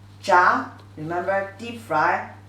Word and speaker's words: 炸: Together, pronunciation is 炸, 炸. Second tone means deep fry.